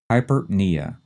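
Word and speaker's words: hyperpnea: we have hypera again like the previous two the first two syllables are run together fast the stress is on the knee hypernia and what would that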